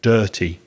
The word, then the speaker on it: dirty: the dirty twin and be careful of the pronunciation of dirty the vowel sound is er dirty consequently when they had